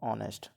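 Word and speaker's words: honest: पढ़ेंगे नेस्ट ठीक है क्योंकि इसमें एच साइलेंट है तो हम इसको कैसे पढ़ेंगे इसको पढ़ेंगे हम ऑनेस्ट मैं एक बार लिख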